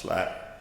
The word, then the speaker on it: SILAP: The acronym is spelled SILAP, but it's pronounced SLAP.